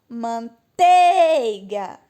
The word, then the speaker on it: manteiga: Manteiga. Nossa, desafinei. Manteiga. Ah, é o tei.